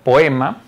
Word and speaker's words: poema: En la palabra poema, la vocal abierta O y la vocal abierta E funcionan como dos sílabas distintas. Por lo tanto, la pronunciación es la siguiente: po-e-ma.